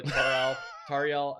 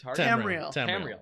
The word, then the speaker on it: Tamriel: And then we'll go to Tariel. How do you say it? Tamriel.